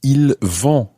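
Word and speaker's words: ils: least but it becomes il and that's spelled v-o-n-t and just to remind you that l there have a silent s on the end i l s for il and that's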